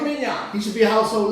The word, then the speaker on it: Wembanyama: Let's pronounce his name right. Women Yana. Victor. Yeah, remember that name? Wembanyama.